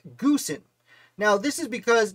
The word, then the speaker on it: Goose: ways but more importantly his first name is probably pronounced gusen now this is because